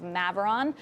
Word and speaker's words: Maveron: We are also joined on set by Dan Levitan, who is co-founder and partner of Maveron. Did I pronounce that right? Correct, Maveron.